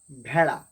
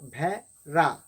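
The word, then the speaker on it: ভেড়া: So sheep is bheda. Bheda. Not ra, not bhera. It's bheda.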